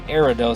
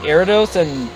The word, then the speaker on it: Ariados: I call him Ariados because I think of Gyarados, so I call him Ariados.